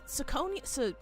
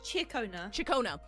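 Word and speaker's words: Ciaccona: Is it Sakonia? It's Chikona. Chikona's super cute.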